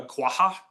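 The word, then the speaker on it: quagga: This is what's called a quaha. Oh, it's a qua. A quaha. It's spelled quaga. GG. So, this is um an extinct uh horse.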